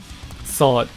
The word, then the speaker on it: sword: Do you pronounce the W? No, just the English way of saying sword.